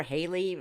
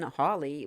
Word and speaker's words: Halley: The Orionids stem from debris from that most famous of all comets, Comet Halley, or Halley, even Hawley. We've heard all three.